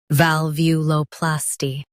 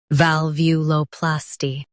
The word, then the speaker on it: valvuloplasty: valvuloplasty Now, read the syllables shown on the screen naturally. val view low plas-ty valvuloplasty Stress view and keep plas light.